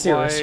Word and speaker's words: Cyrus: It's pronounced Cirrus.